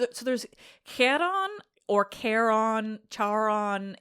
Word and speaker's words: Charon: So in like a more accurate um Greek pronunciation it would be like Kon because it's got that K which is not Kai like the uh American fraternities would have you believe Kai.